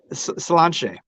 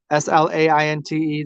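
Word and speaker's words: sláinte: Ah, that's Slanche. Slanche. Is that how they say it? Slainte. They say Slanche.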